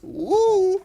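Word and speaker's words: 武: It's not U, it's Wu.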